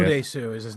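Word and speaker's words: Oh Dae-su: Odesu is his name.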